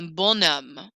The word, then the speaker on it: bonhomme: I'm going to say bon homme, and I'm going to pronounce that N a little bit more.